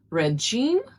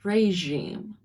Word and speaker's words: regime: It's not regime. It's regime. The next word, it means a feeling of respect, maybe with a little fear or inspiration.